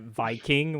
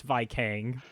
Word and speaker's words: Vikang: I love how y'all are pronouncing it Viking when it's Vikang.